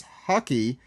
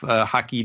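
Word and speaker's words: haki: out to me that Blackbeard pronounced ambition as hockey and after listening in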